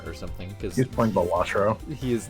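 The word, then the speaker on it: Balatro: know did you know it's pronounced batro not Petro I learned that seven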